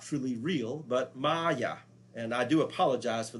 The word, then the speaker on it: Maya: So understand that that's not Maja, that's Maya.